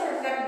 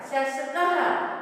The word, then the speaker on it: शशकः: शशकः, शशकः means rabbit को शशक बोलते हैं, और the word is masculine, that's why here विसर्ग। और विसर्ग में विसर्ग को कैसे प्रोनाउंस करते हैं, ह की तरह, शशकः।